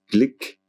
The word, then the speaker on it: Glück: nom de louise glück il est censé être prononcée clic à l'américaine donc avec séparément blick